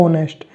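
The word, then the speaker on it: honest: sound आ रही है H silent हो गया तो आपके पास क्या आ रहा ऑनेस्ट तो वावल की साउंड आ रही है तो आपके पास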